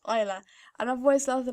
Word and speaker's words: Isla: When I first heard it, I thought it was going to be pronounced Ayla, but then when I looked into it, it's actually pronounced Isla.